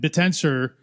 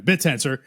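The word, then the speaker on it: Bittensor: So if that's true, right, and um and Betensor is um I don't know why I just pronounced it like Barry Silbert, but anyway, Bitensor um is is able to motivate at this time 10% of the GPU.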